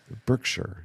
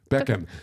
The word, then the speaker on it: Beckham: The highlight of this period, obviously, was the man we see on the left, David Berkshire. Is that his name? You're pronouncing it wrong. Beckham.